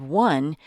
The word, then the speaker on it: one: with a vowel sound the first sound in the word one is whoa that's a W and in English a